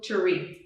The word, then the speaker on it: charcuterie: the cheeses yeah um so it's char coo charcuterie yeah yeah and in spanish it's actually called